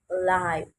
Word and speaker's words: live: If you are referring, for example, to music, it's pronounced live.